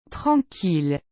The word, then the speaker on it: tranquille: common ones that are not pronounced with the Y sound, but the L sound. Ville. Tranquille.